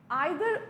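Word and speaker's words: either: आइदर और ठीक है? इसको कुछ लोग ईदर और भी प्रोनाउंस करते हैं। That's fine. But द correct pronunciation according to British that is आइदर।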